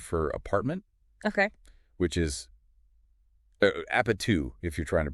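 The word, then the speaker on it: 아파트: Which is apatu, if you're trying to pronounce it.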